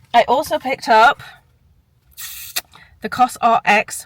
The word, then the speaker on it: COSRX: also picked up the cosrx which I've learned that's how you say it cos RX instead of not Coser Coser or coer cos RX um I put I